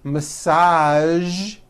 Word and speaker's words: massage: casual television very good now there are only a few words that have the voice sound at the end a few of these words are the color beige the word massage and the word Prestige okay okay now that